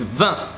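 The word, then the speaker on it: vingt: the last ones so 20 is vom easy to remember that's the same word as wine in French if you're learning French you know how to pronounce wine I mean come on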